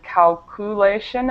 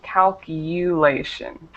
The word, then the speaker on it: calculation: uh pronunciation Corrections uh just this u sound um for example you've said calulation and it should be calculation okay calculation perfect and